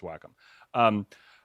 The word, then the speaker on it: Wacom: larger companies like Wacom, which is actually how you pronounce it, because I thought it was Wacom, but apparently it's like we were Wacom. schooled, ladies and gentlemen. Yeah, we were schooled by four Wacom employees who have like a combined 100 years. They're like, it's Wacom. So nice to meet you. It's pronounced Wacom. It's Wacom.